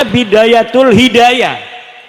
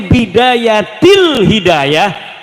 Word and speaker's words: Bidayatil Hidayah: Karena deke maca Bidayatul Hidayah, harus bah dibacanya Bidayatil Hidayah karena ana huruf jerbe.